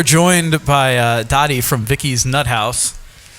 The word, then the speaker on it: Nuthouse: So we are joined by Dottie from Vikki's Nuthouse, not Nut Hut like I just said.